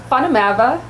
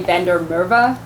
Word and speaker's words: Van der Merwe: by the way funamava is how you say it in uh i'm south african so and it's an afrikaans it's the most common afrikaans name and then it did it's like smith they were jokes about us yeah um walked into a bar and um here in america we just say bender mirva wow just to make it a little easier yeah i was saying it